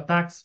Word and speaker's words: táxi: Em palavra táxi, onde é pronunciado como KS, assim, táxi é foneticamente escrito como taxi.